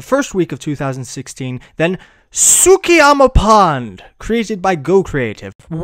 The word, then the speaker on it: Tsukiyama: week of 2016 than Tsukiyama Pond, created by Go Creative. Wow, how did you pronounce that word correctly? What, Tsukiyama? How? You weren't even confused by the T?